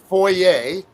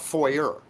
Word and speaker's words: foyer: and foyer, not foyer.